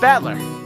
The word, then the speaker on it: Battler: own name that is made up of the characters for fight and person so it's pronounced battler put it all together